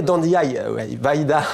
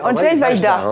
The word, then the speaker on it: Andrzej Wajda: Alors, en polonais, Andrzej Wajda, mais on va prononcer Andrzej Wajda. Ouais, Wajda, c'est vrai que c'est plutôt la prononciation française.